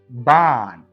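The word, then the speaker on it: Bahn: ஹா தொடக்கத்துல ஒரு வார்த்தையுடைய தொடக்கத்துல வந்தா மட்டும்தான் உச்சரிக்கணும். வேற எங்க வந்தாலும் மறந்துரணும்.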